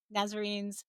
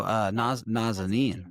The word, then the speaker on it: Nazanin: and each one of them, I remember Nazarene's, I know I said her name wrong. Oh, Nazanin, Nazanin. Nazanin.